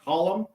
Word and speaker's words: Colum: so it's pronounced column or column? Colum. Column? Yeah. Column? Colum. Yeah.